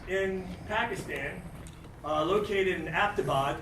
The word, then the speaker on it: Abbottabad: Pakistan uh located in aptabad it's been mispronounced a lot in the media by the way it's not about it's abbottabad named for General Abbott of the British colonial Empire um that's Pakistan's largest